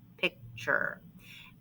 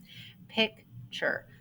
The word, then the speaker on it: picture: bracket like that okay picture now this is silent so the it sounds like kind of sounds like the ch digraph now technically we should